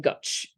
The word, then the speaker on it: Goig: Canviador and his wife Goch. And so these, which by the way is spelled Goig for anyone who wants to explore their Catalan pronunciations.